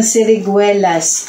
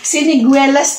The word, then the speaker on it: siniguelas: Mutya ng siriguelas. Pampaan mo po sa tao. Siniguelas? Siriguelas. Ang hirap bigkasin. Siniguelas po kasi sa Tagalog sa Bulacan. Ngayon ang sulat po kasi parang medyo nagkamali yung anak ko.